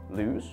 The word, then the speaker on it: lose: The word lose with the ending z, but loose has a s.